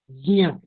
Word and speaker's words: ज्ञ: जो ज्ञ कहते हैं वो गलत कहते हैं। यहाँ पर ग या आ ये सब तो है ही नहीं। ज या आ, ज्ञ। हम कैसे इसका उच्चारण करेंगे?